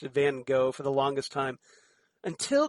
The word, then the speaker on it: Van Gogh: He's just like, no, it's Van, like she said, would say, she pronounced it Van Gogh, and then the Seventh Doctor corrected her, going, no, Van Gogh.